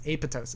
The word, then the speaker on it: apoptosis: You're not supposed to pronounce that P. It's apoptosis. It's a Greek word.